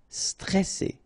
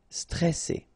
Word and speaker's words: stressé: Stressé, okay, remember you get double S here, so you pronounce it really strong while it's between two vowels. So C, alright, and then here you get this E before the double S, so it will open the pronunciation of the E, stressé, stressé.